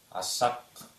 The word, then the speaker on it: асак: буквы ч к следующее слово асак мужик точно так же как будто две с асак а а Аса буква